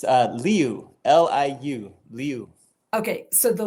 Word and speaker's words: Liu: It's Liu, Liu, Liu.